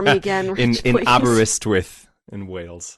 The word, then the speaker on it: Aberystwyth: Can you pronounce it for me again, Rich, in please? Aberystwyth in Wales. Aberystwyth, okay.